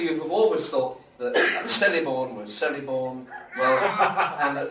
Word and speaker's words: Celeborn: For example, a name like Celeborn would be pronounced in Sindarin as Celeborn, with a consonant R clearly heard before the final N, Celeborn.